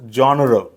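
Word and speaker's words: genre: इ एन आर इ तर याचा उच्चार जॉनर वगैरे असा काही होत नाही त्याचा करेक्ट उच्चार होतो जॉनर काय जॉनर जॉनर म्हणजे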